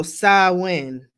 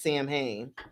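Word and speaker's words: Samhain: sure there you go sawin sawin thank you so much swin is how you pronounce Sam Hayne but sawin is is on its way um you are very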